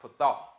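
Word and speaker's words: פתה: So this word enlarge is actually a Hebrew word pronounced pathah.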